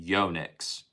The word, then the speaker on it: Yonex: Japanese, it is pron technically I think it's officially pronounced Yonexu, but just because it's Japanese. However, most people, if you actually look at it is pronounced, they will pronounce it Yonix.